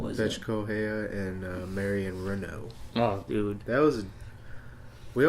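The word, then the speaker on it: Reneau: Is that how you pronounce the name? Renault.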